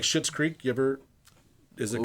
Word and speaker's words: Schitt's Creek: But he's got like Schitt's Creek. You ever? Is it called that? Did I say that right? Schmitt's Creek.